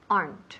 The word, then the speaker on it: aren't: There aren't. Remember, are not contraemos. Aren't es una sílaba.